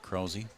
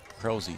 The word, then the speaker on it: Krause: And his first pitch is called a ball, and that is to Grant Krause. I was told to pronounce it Krause, so I hope I'm right.